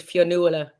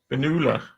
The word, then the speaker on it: Finola: Irish people want to pronounce it Fionnuala. Finola.